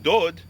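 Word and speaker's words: דוד: The letter is spelled Dalid, Wow, Dalid, but we pronounce it Dod.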